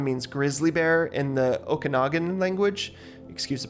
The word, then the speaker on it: Okanagan: I did a little more research and I learned that Kelowna means grizzly bear in the Okanagan language. Excuse the pronunciation, I'm sure. Okanagan.